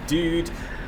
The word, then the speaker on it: Duude: it pronounced it's like dude or dude yeah just it's just the same as the normal one with one year well